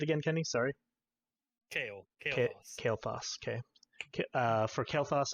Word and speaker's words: Kael'thas: you say it again kenny sorry kale okay kale foss okay okay uh for kael'thas and everest uh